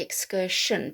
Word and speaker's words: excursion: aversion conversion diversion excursion now the english we say excursion but i think in america they might say excursion but i've heard english people saying excursion as well with a soft sh so um i think that's that's on the border of being one or the other uh you know it